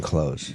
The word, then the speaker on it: clothes: You're not supposed to say the TH in clothes.